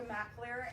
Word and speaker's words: McAleer: It's pronounced McAleer, and I head marketing for Coldwell Banker.